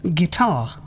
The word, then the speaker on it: guitar: U is not pronounced before after G and before a vowel. guess, Guidance, guitar, guess. Silent W.